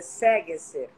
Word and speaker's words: Sagesser: O sobrenome é suíço, é Sagerser. Sagerser, porque na realidade ele deveria ter 2 tremas no A, mas como não existe trema no Brasil, então